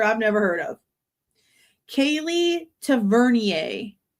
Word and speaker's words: Tavernier: Kaylee Tavernier is how I'm assuming it's pronounced cuz I'm Cajun and that would make sense. T A V E R N I E R Tavernier or Tavernier.